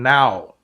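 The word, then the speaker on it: ν: it is like, or it sounds like the letter N. And that's why if you look at the uncial form, it is the letter N. Okay? So it is pronounced as N, as in now. N.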